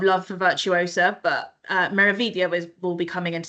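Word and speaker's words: Meraviglia: Uh we get a lot of misprononunciations for meia. So you don't pronounce the G.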